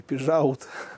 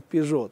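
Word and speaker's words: Peugeot: из четырех букв, да, когда читаем Ренаулт, произносим Рено, да, или Пижаут, произносим Пижо.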